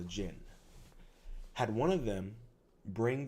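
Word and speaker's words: jinn: a genie that is the um original uh pronunciation of a genie is a Jin had one of them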